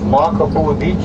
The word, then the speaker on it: Makapuu: And down below there is Makapuu Beach here. It's spelled M-A-K-A-P-U-U, pronounced Makapuu Beach.